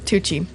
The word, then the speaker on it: Tucci: chief to how do you say his name tucci tucci yeah um they like most of the most